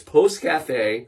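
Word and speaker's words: pousse café: I'm glad you asked Post Cafe and p o u SS e uh is how you spell it I've been scared to death to say this word literally all day but it's Post Cafe you've been doing great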